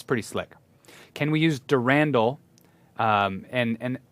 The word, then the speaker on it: Durandal: slick can we use durandal um and and i've heard controversy on the pronunciation i say derandal during dal durandal i'm not sure i say potato i say i say durandal still okay it doesn't